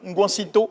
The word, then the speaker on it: Ngwansito: qui vient de nous faire Le Kolou, l'un des 7 titres de son album Ngwansito, c'est ça? C'est la bonne prononciation.